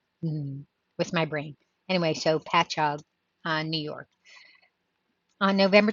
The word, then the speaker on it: Patchogue: oh Patrick oh p-a-t-c-h patch a Patchogue um p-a-t-c-h-o-g-u-e New York a remnant of black lacy clothing